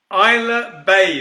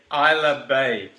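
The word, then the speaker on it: Ailsa Bay: We were looking for Isla Bay. That is A-I-L-S-A. Isla Bay.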